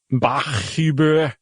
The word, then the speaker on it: Bach: Um, so this dude Kevin, uh, how would you pronounce that? Bach.